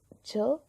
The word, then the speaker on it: 저: Du coup, ça c'est un J, ça c'est un E-O. Du coup, ça se prononce jo, à base de jo, jo.